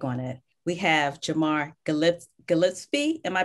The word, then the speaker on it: Gillespie: We have Jamar Gillespie. Am I pronouncing your name correctly? Gillespie.